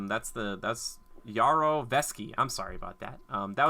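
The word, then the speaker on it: Yarovesky: how you say his name that's the that's yarrow feschi I'm sorry about that that was the director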